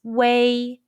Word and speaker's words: ui: about the final way when you see the english letter ui in pinging the pronunciation is wei is a combination of the mandarin chinese u and a sounds say it's close to the sound of the english word way but shorter and tensed say your lips are